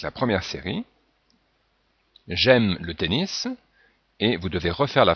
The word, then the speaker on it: tennis: Donc il y a la prononciation du mot tennis qui est en fait un mot anglais et que l'on prononce donc avec la prononciation qui ressemble à l'anglais.